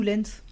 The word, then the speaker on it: Lance: On dit lance ou Lens ? Moi je dis Lance. Moi je la prononce à la française. Lance lance lance lance Armstrong. Voilà à la française.